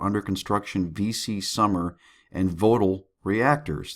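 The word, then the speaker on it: Vogtle: construction VC summer and votal reactors that's votal V GLE e reactors uh blee went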